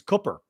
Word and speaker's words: Cooper: you're wrong Google it his name is pronounced double O like foot the O is pronounced